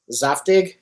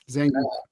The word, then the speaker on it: Zangief: Zaftig? No, it's not that. Zangief.